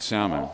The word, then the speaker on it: Salmon: So I did pronounce it right. Salmon.